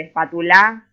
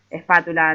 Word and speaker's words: espátula: por ejemplo y por quiero saber dónde va el acento y espátula hoy así de espátula espátula espátula y así